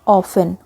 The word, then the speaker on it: often: तो first word है यहाँ पर ऑफन, OFTEN। यहाँ पर जो टी लेटर है ये साइलेंट रहेगा।